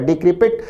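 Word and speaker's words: decrepit: और अंतिम ऑप्शन डिक्रिपिट, एक बहुत अच्छा शब्द है, विद्यार्थी उच्चारण पर भी ध्यान दे, प्रोनाउंसिएशन होगा डिक्रिपिट।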